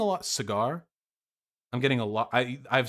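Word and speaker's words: Saagar: Can somebody help me pronounce that? I saw some people criticizing me earlier in chat. Sagar, gotcha. Soigar, there you go. I'm getting a lot, Cigar.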